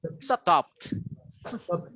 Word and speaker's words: stopped: ending with, ending with, all of this you pronounce with T. Example, stop. In the past, stop it. No, stopped.